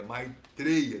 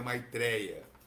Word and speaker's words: Maitreya: Então, não estou pronunciando de forma errada. É Maitreya, não é Maitreya.